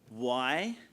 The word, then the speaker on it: Hueneme: And next up, and it took me a while to work out how to do the pronunciation of this port. So apparently the easy way to remember it is Hueneme.